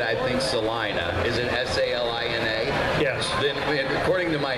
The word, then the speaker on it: Salina: Is it S-A-L-I-N-A? Yes. Then, according to my English teacher, the I becomes a long I because the A, there's only one letter between it, so it's Salina.